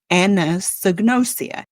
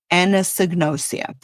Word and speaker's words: anosognosia: There is a thing, a condition, a medical term called anosognosia. And I'm going to spell it for the people who are nerds like me. Ana, A-N-A, sognosia, S-O-G-N-O-S-I-A, anosognosia, which literally means the unawareness of one's own illness, symptoms, or impairments.